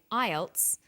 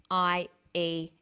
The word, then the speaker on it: IELTS: With an acronym, we don't pronounce the individual letters, we pronounce it as a word. So we say IELTS, not IELTS.